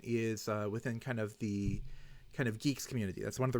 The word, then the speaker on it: Guix: use very soon is within kind of the geeks community.